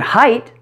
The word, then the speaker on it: height: different in each word the word height rhymes with night or white notice the I sound the word weight rhymes